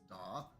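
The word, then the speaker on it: daith: It's pronounced Doth, my piercer.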